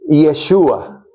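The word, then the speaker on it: ישוע: En hebreo moderno se dice Yeshua. Se oye mucho esa expresión, esa palabra mencional por parte de los judíos. Yeshua Hamashia.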